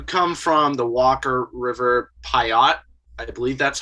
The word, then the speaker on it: Paiute: So wanted to ask, so you come from the Walker River Paiute, I believe that's how I pronounce it. Paiute. Paiute, thank you.